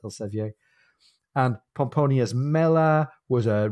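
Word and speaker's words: Elsevier: modern day Publishing House spelled differently but still pronounced El Sevilla and pomponius Mela was a Roman geographer his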